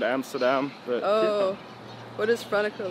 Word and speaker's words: Franeker: How do you say it, like Franeker? Franeker, yeah, Franeker.